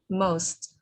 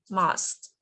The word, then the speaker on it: most: just one word most most yeah just remember we call most we pronounce most not must most most yeah thank you